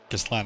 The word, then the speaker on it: Gustlan: Gustlan, I think, because there's a vowel at the end, so it actually pronounces the N.